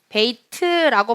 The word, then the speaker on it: 베이트: 베이트라고 발음하면 약간 촌스러운 발음이기 때문에 베이트. 네, 이렇게 뭔가 트를 흘려주시면 되겠습니다.